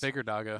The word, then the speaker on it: Abbedagge: Abbedagge. Yeah, Abbedagge. Yeah. Mhm. Well, see, we got the pronunciation guide, right?